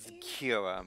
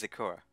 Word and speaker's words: Sakura: know why I said Kira but it's Sakura yes I don't know why emphasize that second syllable but I don't think